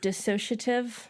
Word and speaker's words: dissociative: never pronounce no look it's the word that when you look looks like there could because you associate it looks like it feels like there should be an A in there but there's not dissociative